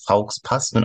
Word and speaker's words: faux pas: 아이는 다음은 프랑스어라서 발음이 faux pas입니다. Also faux pas는 안 되겠죠?